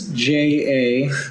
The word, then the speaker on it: Jaime: And you can find me, Jamie, at. That's JAIME Jaime. B13. Spell it What was the Jaime.